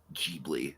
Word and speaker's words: Ghibli: It's pronounced Ghibli.